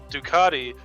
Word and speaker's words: Ducati: Dusati? Ducati. Ducati, quote, "The Fuda is a high-performance e-road, ready to go long E-road?